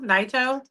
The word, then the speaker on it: Naito: Naito? Naito.